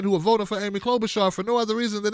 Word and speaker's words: Klobuchar: is her last name is klobuchar which rhymes with crowbar jaw or something or chainsaw